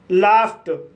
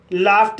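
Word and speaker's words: laughed: लाफ्ट लाफ्ट शब्द में जी एच का उच्चारण फ हुआ है और उसके बाद ई डी जोड़ा गया है।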